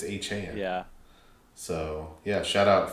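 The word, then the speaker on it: Achane: Yeah, I was going to say I learned that yesterday that he actually it's not A Chain, it's Achan.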